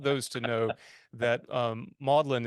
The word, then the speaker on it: Magdalen: to know that um modlin is how is how you say Magdalene at Oxford that's what that is